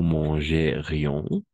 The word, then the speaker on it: mangerions: Nous mangerions. D'accord? On va prononcer IONS. On va prononcer ION. ION. Le S est muet.